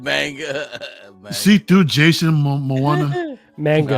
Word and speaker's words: manga: It's manga, manga, yeah. Yeah. Manga. There you Yeah. Not MAGA. Yeah. Or anime. Manga. Not MAGA.